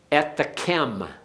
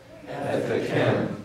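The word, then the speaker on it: אֶתְכֶם: Ethekem. Ethekem. Now notice again we have a bagad kafath letter without a dogish, which tells us then that the vowel before it is vocal. So it's a ethekem.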